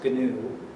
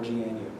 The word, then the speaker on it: GNU: GM use nine innings I think some people i don't know if it's officially pronounced canoe I'm not have called it that because think that's not silly but you can press neither good new or GNU he posted a manifesto